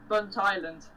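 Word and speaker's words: Burntisland: I have no solid clue how I'm supposed to pronounce this next station. What's it called? Burnt Island? Bunt Island.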